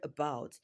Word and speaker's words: about: So in the word about syllable about is stressed which is the second syllable.